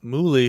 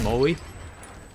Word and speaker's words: Moley: But I was informed that apparently his name is pronounced Moley. Moley.